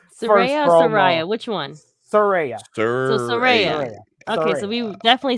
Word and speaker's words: Saraya: So Saraya.